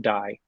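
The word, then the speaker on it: DAI: D AI people I've I've always heard it pronounced die, by the way, like you're rolling a die.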